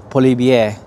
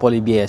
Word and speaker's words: Poilievre: Binanggit ko Pierre Poilievre. May R. I think ang bigkas na dito ay Poilievre. Tatlong version ng pagsasalita nun in English, yung last name niyang Poilievre.